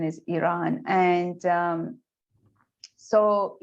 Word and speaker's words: Iran: for some maybe some of our audience still pronounce the name of this country our country as iran which is for some reason has become you